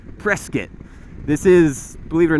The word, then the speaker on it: Prescott: I mentioned it but we are in Prescott Arizona right now or as the locals say press kit this is believe it